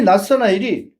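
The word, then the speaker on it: Ναθαναήλ: 속에 속임수가 없도다 하시니, 개역성에는 나다나일로 되어 있습니다. 근데 엘라 발음은 낫사나일입니다. 낫사나일. 그래서 이 낫사나일이 자기 친구였던 필리포스가 와가지고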